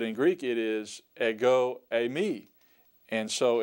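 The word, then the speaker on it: εἰμί: later on but for now just know that a me a me is how you pronounce that notice the D thong Epsilon ioda and then you have moo and then the ioda a me that means I am I am and uh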